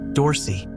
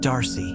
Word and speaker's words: Dorsey: He hadn't even bothered to learn how to pronounce her last name right. Dorsey, not Darcy, not hard.